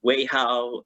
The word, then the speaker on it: Wei Hao: My name is Wei Hao. You never met me before. It's the way how you say it.